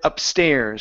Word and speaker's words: upstairs: go to the word upstairs so the stress is on the end end of this uh uh on the end of this on the end of this word go upstairs and get